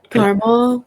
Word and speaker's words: Carmel: I love how the Midwest pronounces things. Okay. Carmel? Yeah. Oh, It because you guys doesn't say have Carmel. the second Yeah. A in it.